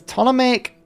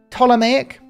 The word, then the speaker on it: Ptolemaic: But this, Ptolemaic, I'm pretty sure the P is silent. But people have told me both ways, right? I'm going to say Ptolemaic with a silent P because that's what I think it is.